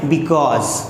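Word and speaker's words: because: अब दोस्तों जब इसको हम बोलेंगे तो इसके दो प्रोनाउंसिएशन होते हैं। पहला तो होता है बिकॉज।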